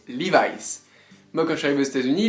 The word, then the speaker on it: Levi's: en effet la marque Levis par exemple donc si vous VZ aux États-Unis ne dites pas Levis si vous recherchez des lis la prononciation c'est livice moi quand j'arrive aux